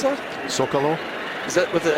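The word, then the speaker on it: Zócalo: Zocalo? Is that with the S or is it? It's spelled with a C, but we say it with an S.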